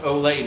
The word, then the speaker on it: Olay: they said they said it's pronounced olay not old lady cream oil of olay i like oil of a way i talked about it